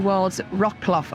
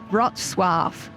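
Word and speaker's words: Wrocław: a-rolls that's run into Worlds Rock cloth or actually as it's pronounced in Polish rot Suave which is something we've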